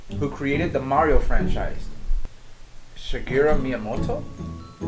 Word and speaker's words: Shigeru: video game designer who created the mario franchise shigeru miyamoto shiguro miyamoto you pronounce that's the wrong you looks like oh